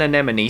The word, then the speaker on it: anemone: you heard it before it goes many an anemone sees an enemy and enemy and please note that it must be pronounced under monie anemone there's those colorful sea